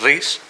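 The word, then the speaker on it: Ries: señor se llamaba Eric ris mucha gente lo pronuncia Eric rice no es Eric ris aunque tengas la tentación de decir Eric rice no eh Bueno pues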